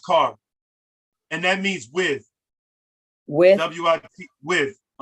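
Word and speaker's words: kar: to give you is k-a-r that's pronounced car and that means with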